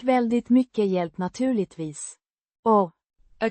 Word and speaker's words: väldigt: Pronounced. Väldigt. With a stress on the first syllable.